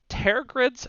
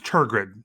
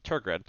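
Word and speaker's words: Tergrid: grip i've been struggling i actually pronounced this one tear grid's shadow i'm going to go with i think it's tur grid target okay tour grid uh three black black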